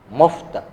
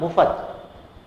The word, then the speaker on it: मुफ्त: के रूप में, देखिएगा जैसे उच्चारण करते हैं मुफ्त। हाँ देखिए मैं इसका अशुद्ध उच्चारण भी कर लेता हूं, मुफ्त। मुफ्त नहीं है ये, मुफ्त, क्योंकि फ में किसी प्रकार का स्वर नहीं है।